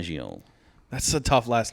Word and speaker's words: Fangio: Fangio.